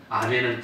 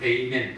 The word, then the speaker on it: 아멘: 그걸 영어 사람은 에이멘 그럽니다. 영어 발음은 히브리어 발음하고 다릅니다. 에이멘. 미국 사람들은 긴 장음을 발음할 때는 꼬부라져야지 계속 못해요. 그러니까 이러면 에이 그렇게 발음합니다. 그건 에이멘은 그건 영어식이고 원래 히브리 발음이 아멘인데 그걸 우리는 그대로 음력으로 따서 아멘.